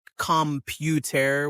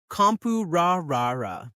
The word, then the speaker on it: computer: Like the word computer, not computer with hard T's, but compu-ra-ra-ra, with that soft flap sound in the middle.